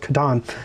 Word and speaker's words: Catan: And it was mostly the Catan people, which is correctly pronounced Catan.